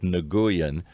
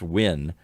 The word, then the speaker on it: Nguyen: vietnam is looks like nagoyan but it's win it's pronounced in vietnamese you have to learn that immediately n-g-u-y-e-n is win and dr tren still